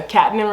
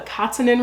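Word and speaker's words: Catenan: the Republic in this I keep wanting to call it the Katan Republic but there's a pronunciation in the back and it's called The katanin Republic they have a very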